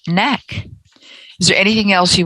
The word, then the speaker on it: KnaQ: i have the website k-n-a-q dot com pronounced neck is there anything else